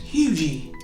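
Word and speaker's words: Huger: the street names whoo h-u-g-e-r is pronounced hugee l-e-g-a-r-e is Legree b-a-r-r-e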